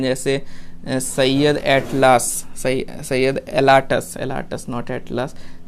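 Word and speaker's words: Alatas: जैसे Syed एटलास, Syed एलाटस नॉट एटलास, सो ऐसे याद रहेगा एटलास से। तो एटलास ने क्या बोला था, एटलास नहीं है वैसे तो एलाटस है, just try to understand एटलास।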